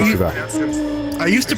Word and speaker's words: Chevelle: I thought it was pronounced Chevrolet, like the car. No, it's always been Chevelle.